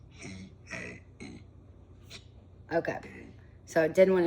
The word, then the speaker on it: Hiei: Hiei is how it's pronounced in Japanese. Hiei.